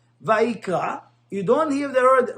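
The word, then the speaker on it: ויקרא: In the word of Vayikra, the word ends with the letter Aleph. And Aleph, you don't pronounce it.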